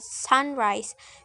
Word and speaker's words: sunrise: syllable for example in the word sunrise so the the stress in reversible sun another example is